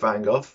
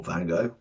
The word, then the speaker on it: Van Gogh: not i'm certainly not van gogh or van gogh depending on which pronunciation you like personally if i do